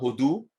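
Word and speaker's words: הודו: Hodou, quand on met le dagesh, l'accent tonique à la fin, Hodou, alors c'est l'Inde.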